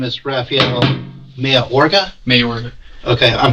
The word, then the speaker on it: Mayorga: Mayorga. Okay, I'm pronouncing that correctly?